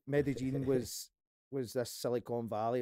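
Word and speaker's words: Medellín: in talking about how Medellin sorry I'll pronounce it right Medellin was was this Silicon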